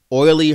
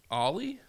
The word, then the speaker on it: Ollie: only family members that say his name wrong oily is Oh Ellie ool is oily right Ollie ollie okay I wasn't calm oily well alright sorry Ollie this latest album is